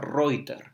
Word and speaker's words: Reutter: También hay otra, no es escritora, de hecho más bien una bloguera que se llama Josefina Reuter, se escribe Reutter.